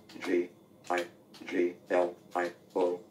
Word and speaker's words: Giglio: G. I. G. L. I. O. the correct pronunciation in Italy is Giglio, but in